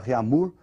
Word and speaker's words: Réaumur: é a escala Réaumur, que nós vamos pronunciar Réaumur, né, que é aportuguesado de novo, né, e essa escala